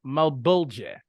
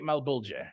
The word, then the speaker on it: Malbolge: The sixth layer of the Nine Hells is known as Malbolge, or Malbolge, some might say. I like to say Malbolge is kind of how I like to pronounce it, but it is ruled